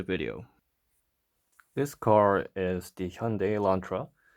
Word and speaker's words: Hyundai: included and believe it or not actually it's pronounced hyundai not hyundai it's smaller than the uh mid-size sonata so